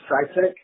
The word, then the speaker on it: CiiTECH: Well, our products, you should jump onto the internet, have a search for Cytec. Cytec is spelled CIITECH.